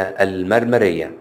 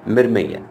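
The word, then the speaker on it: مرمية: نؤكد ان العشبه دي اسمها بالعاميه المرمريه تمام المرمريه انما اسمها حسب النطق السليم بتاعها مرميه مرميه تمام طيب العشبه دي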